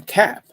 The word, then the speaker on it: kapp: It's called a cap. No kidding, but it's spelled differently. It's spelled KAPP.